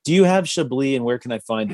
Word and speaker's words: Chablis: toasting this classic um okay a little more shibly oh okay you mean the uh the chablis